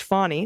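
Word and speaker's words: Fani: In this shot, are our cat Fanny, pronounced Fawny, okay, Fawny, just like Fawny Willis, and our 2 Australian shepherds.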